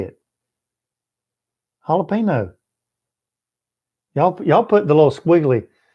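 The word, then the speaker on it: jalapeño: Jalapeno. Y'all put the little squiggly. See, jalapeno has that little squiggly thing over it. Y'all put the little accent on the little squiggly thing.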